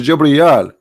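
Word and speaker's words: جبريل: me Cahill Jew breed is not gibreel it is Jew Brielle we qahal israel now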